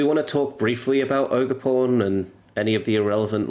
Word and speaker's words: Ogerpon: Why is there an R at the end there? There's no R. What are you on about?